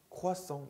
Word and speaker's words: croissant: 우아라고 발음이 되는 경우도 있어요. 보시면은 croissant 있잖아요.